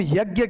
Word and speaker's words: यज्ञ: यानी ज की ध्वनि ये ज लिखा जाता है यहां पर। यानी इसका मतलब यज्ञ था। हां कब वैदिक संस्कृत के समय वैदिक संस्कृत के समय इसका उच्चारण ज ही होता था।